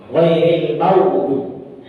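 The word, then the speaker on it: غير المغضوب: Jadi gha ini itu bukan g. Bukan w ya. Karena ada beberapa sekalian yang melafalkan ghairil maghdubi. Bukan w, tapi gha.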